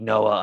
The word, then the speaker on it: Noa: mention my name earlier it is indeed noah unfortunately without the h couldn't be bothered with any silent letters um the biblical name